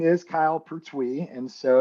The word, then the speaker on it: Pertuis: So it's like TWEE, Pertuis is how we say it.